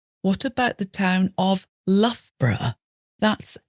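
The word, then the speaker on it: Loughborough: the difficult one what about the town of lfra that's l o u g h b o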